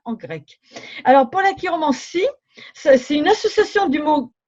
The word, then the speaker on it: chiromancie: C'est pour ça qu'on ne dit pas chiromancie ou chirologie, comme on pourrait le croire pour chirurgien. Non, non, non. On dit chiromancie, chirologie, comme un chiropracteur aussi.